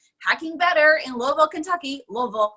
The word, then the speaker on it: Louisville: better in Louisville Kentucky Louisville I said it right bull Ville you guys say it like they got a mouthful of marbles I said it right